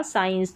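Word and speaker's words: science: तो यहाँ पर इसको साइंस पढ़ा जा रहा है, क्या, साइंस, तो सी यहाँ पर साइलेंट है।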